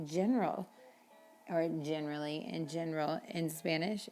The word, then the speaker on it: general: And how do you say general or generally in general in Spanish? It's en general. Remember that G, when it's followed by an E, makes the H sound.